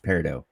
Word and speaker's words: peridot: peridot business systems okay sorry i've been saying it wrong it's peridot so it's french anyways that's the name